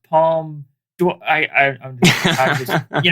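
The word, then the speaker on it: Palme d'Or: the dark in 2001 the uh palm dwarf their top prize there oh please mark it's pronounced palm do i i i just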